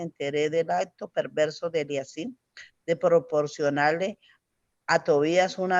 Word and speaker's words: Eliasib: ¿Eliasí es que se pronuncia? Sí, Eliasí.